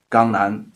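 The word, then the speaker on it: 강남: So in the Korean, the Jiangnan was pronounced as Gangnan.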